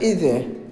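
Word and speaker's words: 椅子: ইজে মানে চেয়ার ইজে উচ্চারণটা হবে ইজে।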